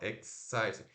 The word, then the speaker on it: exciting: Porque assim, o X é o som de X, né? Ó, X. Tem um Szinho no final. Exciting. E esse C também tá fazendo o som de S. Aí eu não sei se é aqui ou se é aqui. E não interessa. O interessa é que são três sílabas aqui. De algum jeito são três sílabas. Porque são três sons de vogais.